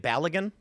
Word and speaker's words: Balogun: Balogun? Oh yeah, Balogun.